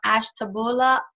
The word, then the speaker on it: Ashtabula: Mr Cameron over here Cameron is originally from Ashtabula did I say it correctly oh hi oh